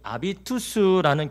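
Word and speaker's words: habitus: 이런 역사학자 앨런 크라이머는요, 이 초대교회의 폭발적인 성장 비결을요, 이 아비투스라는 개념으로 설명합니다. 이 아비투스, 여기에서 habit이라는 영어 습관, 태도, 버릇, 이게 나왔습니다. 아비투스. 원래 하비투스라 하지만 그냥 H를 묵음으로 해서 아비투스라 합니다.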